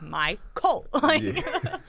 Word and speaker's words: MyCole: it's simple cuz it's it's spelled the way it's exactly as it's pronounced even put the capital c emphasize yeah but uh like my cult so the story is